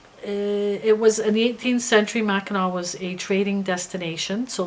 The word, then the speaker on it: Mackinac: pellet with the W Mackinac okay but it's pronounced Mackinac you know a lot of Mackinac Island is